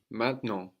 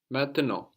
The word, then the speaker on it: maintenant: So we have two N's, no, on the end of the syllable, like in main, and then nant, the N there on the end. So those are swallowed up into the nose. And we have the final T totally silent as well.